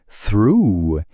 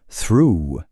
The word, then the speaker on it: through: On enchaîne avec through. Et là, attention, changement radical. Le son devient un OU long comme through.